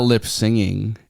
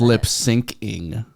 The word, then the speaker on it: lip syncing: well first of all it's not lip singing It's lip syncing oh duh yeah the way it's spelled yeah yeah I had